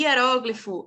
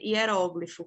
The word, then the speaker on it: hieróglifo: ela tem uma peculiaridade ela admite duas grafias e duas pronúncias eu tanto podes posso escrever hieróglifo com acento na proparoxítona e ela ser uma proparoxítona que é o caso aqui ó e era como eu posso tirar esse acento e torná-la uma paroxítona e era o glifo as duas formas tanto de escrever quanto de pronunciar está corretas está de acordo com a norma culta da língua portuguesa Beleza então fica esse